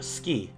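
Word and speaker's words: 好き: u sound gets dropped and like words like suki which is ends up being ski where the the u sound also gets trapped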